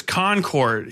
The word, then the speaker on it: Concord: Concord, New Hampshire is Concord. He's not on the Concord as in like they conquered New Hampshire.